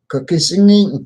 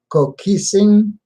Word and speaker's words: Kokosing: Kokising, I can't pronounce. I get my tongue tied when I try and pronounce that. Kokosing. There you go.